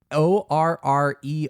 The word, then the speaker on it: orrery: ORRERY. ORRERY. I'm pretty sure it's pronounced Orrery?